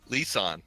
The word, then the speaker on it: Lisan: everyone or anyone remembers Lisan right thank you yes it's like Nissan with an L yeah